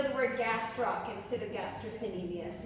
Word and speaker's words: gastrocnemius: Gastrocnemius. Spell that in Scrabble. Gastrocnemius.